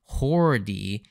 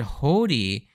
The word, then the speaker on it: Hody: Without the bar, because in the Japanese you'll see the katakana character for Ho, and then you'll see this bar which tells you to elongate the Ho, and then you'd have